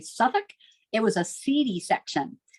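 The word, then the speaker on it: Southwark: London borough of Suffolk it looks like southwork pronounced apparently Suffolk it was a seedy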